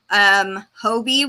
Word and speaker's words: Hobbii: I've ordered from Hirschner's, from Mary Maxim, from Premier, Hobie, which is spelled Hobbii.